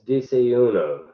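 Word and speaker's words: desayuno: uh normal's day's breakfast or what's known as disa uno it's spelled d-s-a-y-u-n-o this typically uh consists of a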